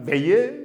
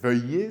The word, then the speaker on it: veuillez: ma haute considération veuillez attention en mauvaise prononciation vous allez attendre veillez mais c'est veuilleer c'est le verbe vouloir conjuguer n'est-ce pas dans un mode impératif veuilleer vouloir recevoir donc veuillez